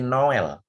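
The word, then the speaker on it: Noël: Natal itu ini bacanya ini tulisan NO, E-nya dipakai trema, ada L. Jadi bacanya ini Noel. Noel itu bahasa Perancis Natal ya.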